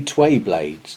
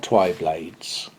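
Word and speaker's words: twayblade: um excuse me sir they're actually tway blades not twi blades now you don't normally get told off at my age but he was right i was wrong i just mispronounced it and in addition to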